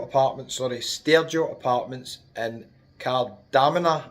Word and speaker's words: Kardamena: Stereo Apartments in Cardamina, I think it's called. That's how it's pronounced. The bus driver told me that.